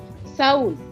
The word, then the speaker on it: Saúl: La U lleva tilde. ¿No es así? Muy bien, entonces se separa. Saúl. La S con la A, con la vocal abierta, la U, que es vocal cerrada, con la L, pero lleva tilde.